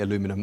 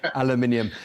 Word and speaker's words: aluminium: differences with regards to how we pronounce the word aluminium you say aluminum we say aluminium thank you very much